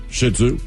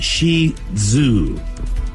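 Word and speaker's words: Shih Tzu: how about the shitzu how do you say that shitsu it's Shi Zoo you think they'd be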